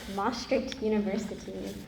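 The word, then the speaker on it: Emory University: Um first of all it is pronounced MRI University.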